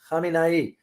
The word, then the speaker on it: Khamenei: not Khamenei, Ali Khomeini, there's a pronunciation there, Khomeini versus Khamenei. The current supreme leader, the current spiritual leader is Ali Khamenei. The previous one, the late, is Ali Khomeini.